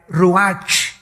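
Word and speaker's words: רוּחַ: El ruach, que se escribe R-U-A-C-H, ruach en el hebreo, y se pronuncia igual, ruach.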